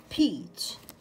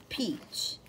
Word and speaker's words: peach: peach peach peach فاكهة الخوخ أو المشمش. peach p e a c h. الـ EA عندنا الـ E long طويلة والـ A silent.